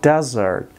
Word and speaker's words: desert: ببینید دوستا در این لغت فشار تلفظ بالای زرد از زرد. دش کوتاه تلفظ میشه و زرد هم طولانی تر و بلندتر.